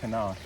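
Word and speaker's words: CNOC: I've got this the Knock, it's C-N-O-C, I think it's pronounced Knock, bag, and I use this to gather the water.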